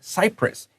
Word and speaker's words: Cyprus: There's an island called Cyprus. It's spelled differently, but it's the same pronunciation.